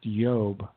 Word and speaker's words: Iob: In fact, names like Job, it was really the book of Iob, probably pronounced Yob, because the I's were often pronounced with a Y.